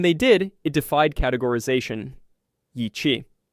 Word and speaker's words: Yi qi: Yi qi. Pronounced "ee chee", it means strange wing in Mandarin.